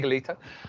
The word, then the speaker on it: Legalo: correctly yes absolutely absolutely legalo we called it legalo because obviously it's legal it and I'm learning Italian and I think Italy's really cool so it's legally toe because it's a masculine